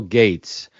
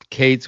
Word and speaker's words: Cates: And by the way, you didn't mispronounce it, but some people think, how in the heck did Dave get Bill Gates on the show? So just so you know, it's Cates with a C.